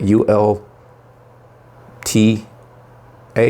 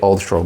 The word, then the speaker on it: Ulta: how you say it u l t a i want to say Ultra but it's Ulta Ulta it's a makeup Place